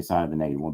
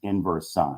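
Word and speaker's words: sin⁻¹: writing inverse sign and don't say I guess you could say sign of the negative one but that's not really how you say it it's inverse sign it's the same thing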